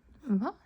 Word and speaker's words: hva: So, since there's an H and then a V, we just ignore the H and say the V. Hva heter du?